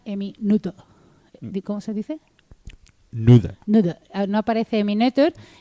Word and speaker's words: Noether: Noether. No aparece Emmy Noether y... ¿Nuta? Es que si digo Nuta, la gente no sabe quién es.